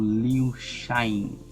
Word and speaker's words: Lil Chainz: MHRap aí com feat do Liu Shines, essa é a pronúncia.